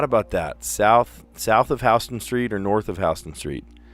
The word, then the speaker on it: Houston Street: No, it's Hston Street. They pronounce it H Street. The whole rest of the world would pronounce it Houston Street, but they pronounce it H Street.